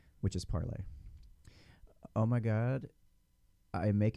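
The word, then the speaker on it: Parler: be not correct but the name is pronounced as the french verb to speak or to say which is parlay oh my god i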